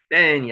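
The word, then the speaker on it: בן: 벤이 아들입니다. 벤 한번 해보세요. 벤. 여기에는 벤이라고 썼지만은 쌍비읍으로 발음이 됩니다. 벤. 여기 경강점이 들어가 있기 때문에 그렇죠.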